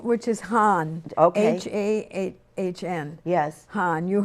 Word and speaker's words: Hahn: Well, there's a High German name, which is Hahn.